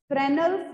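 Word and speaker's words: Fresnel: फ्रेनल्स diffraction, S silent होता है इसमें, फ्रेनल्स डायफ्रेक्शन एंड फ्राउनहोफर डायफ्रेक्शन.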